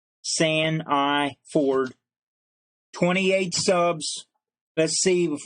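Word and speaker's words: Sandiford: Now that's spelled S-H-A-U-N, Sean, and his last name is spelled S-A-N-D, as in sand, beach sand. I, the letter I, and the word Ford, San of Ford. It's all one word. San I Ford.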